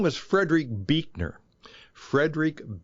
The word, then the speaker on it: Buechner: His name was Frederick Buechner. Frederick Buechner. And that's spelled Buechner.